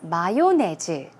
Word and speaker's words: mayonnaise: So I put stress on the first syllable.